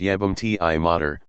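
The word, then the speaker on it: jebem ti mater: T mod jebam T mod pronounced yam TI Mo meaning I'll [ __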